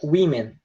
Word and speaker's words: women: Se pronuncia women, tá? Embora esteja escrito com W-O-M-E-N, a gente pronuncia como se tivesse um I, né?